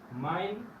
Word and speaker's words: mein: Igual EI es siempre hay. Es igual, si decimos, por ejemplo, la palabra mein, mi o mío, muchos